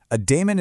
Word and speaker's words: daemon: Daemon is pronounced demon, exactly like the mythical creature.